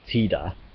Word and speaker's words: Tida: true like I said his name is written and pronounced in Japanese like Tida t-i-d-a and it is the Okinawan dialect word for sun Okinawa being a region